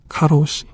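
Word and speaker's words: 過労死: 뭐 이걸 카운트하는 방식도 사람마다 다른데 카라테, 네, 카라오케, 가로시. 과로사의 발음, 일본 발음인 카로시가 영어로 이걸 다른 단어로 표현할 수 있는데도 불구하고 사실상 국제어로 받아들여지고 있습니다.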